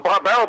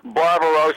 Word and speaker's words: Barbaro: I went Barbaro and I called him Barbaro the whole race there and after the race I found out was named after a painting and the correct pronunciation was barbar Roo the horse of course